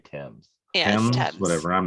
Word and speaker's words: Thames: spelled like things but I think they say Tim's yeah whatever I'm not